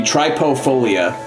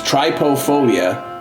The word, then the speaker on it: trypophobia: So, it be tryopobia. Trip trypophobia or wait, no, no, it's try. I think it's T R Y P O. So, it's trypophobia. Trypophobia, I believe, is how you pronounce that.